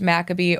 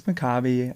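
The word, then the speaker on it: Maccabi: debate between us of if it's pronounced makabe or macabi it's makabi I learned I think it's a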